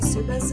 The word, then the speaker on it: Suppes: search my name suus SU P PES spelled like supper but with an S instead of an r and not pronounced the same for whatever reason uh based in Spokane